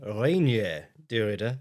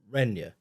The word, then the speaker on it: Reinier de Ridder: So this weekend we've got UFC Abu Dhabi Whitaker versus Derida and we're now saying Reier Dura, not Rena, which is what I was saying previously.